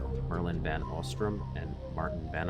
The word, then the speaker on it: Merlijn: Merlijn van Oostrum and Maarten van Oostrum. I think did I do it right? I think I don't pronounce the J.